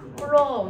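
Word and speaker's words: coulomb: C라고 쓰고 뭐라고 읽어요? 쿨롱 이렇게 읽어요.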